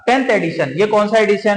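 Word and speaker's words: Reykjanes: Emergency following 4th volcanic eruption in द याकिन्स peninsular. इसको are silent बोलेंगे, याकिन्स peninsular में।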